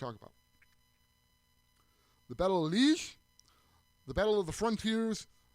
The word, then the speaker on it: Liège: Liège. Liege. Liege. It's kind of like French pronunciation.